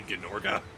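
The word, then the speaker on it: Gnorga: It it it it looks like that should be a silent G, but it's not. It's actually Gorgga.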